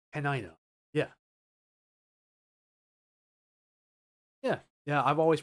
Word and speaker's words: Tenino: And I know it's pronounced Tenino.